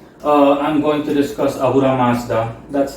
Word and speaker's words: Ahura Mazda: from the header uh I'm going to discuss ahura Mazda that's how his name is pronounced um long story short if you as